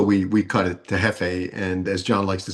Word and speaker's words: Hephae: So it's pronounced Hefe like chief, but it's short for Heestus, the uh the Greek god of blacksmiths and volcanoes and some other some other stuff.